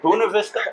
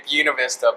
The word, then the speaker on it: Buena Vista: Bunav Vista. How do you say uh Well, if you want to get fancy, you could say Bunav Vista, but yeah, just uh yeah, Bunav Vista.